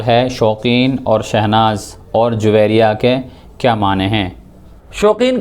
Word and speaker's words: جویریہ: نام بھی تھا، اور عربی میں اس کا تلفظ اور پروننسیشن یہ ہوگا جویریہ۔ بعض لوگ جویریہ بھی بولتے ہیں، یہ عربی کے لحاظ سے غلط تلفظ کہلائے گا، بلکہ اس کا اصل تلفظ یہ جویریہ ہوگا۔ اس کے معنی ہوتے